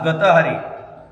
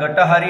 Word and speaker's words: गतहारी: या गावचा ग्रामपुरोहित बोलतोय आज गतहारी उच्चारणात गटहारी असा उच्चार आल्यामुळे या शब्दाचा अपभ्रंश झालेला आहे गतहारी म्हणजे कसं तर